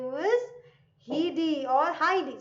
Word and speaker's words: Heidi: About one of the most famous character, an orphan girl whose name was Heidi or Heidi. Sorry, not Heidi. I mispronounced it. Heidi, right?